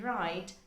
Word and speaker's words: write: being pronounced for example k in no and w in right they are not pronounced yet they have to